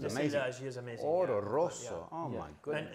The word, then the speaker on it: Oro Rosso: You gotta say it like that, Oro Rosso.